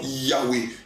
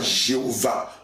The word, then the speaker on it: Yahweh: C'est le nom Yahweh et non pas Jéhovah. Alléluia. À l'époque, les Israélites n'arrivaient pas à prononcer le nom Yahweh puisque c'est un nom qui est composé, alléluia, de plusieurs lettres. Amen. Mais dans lesquelles il n'y a pas de voyelle.